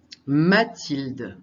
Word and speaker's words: Mathilde: La maîtresse s'appelle Mathilde, avec un H muet que j'ai oublié de mettre en rouge.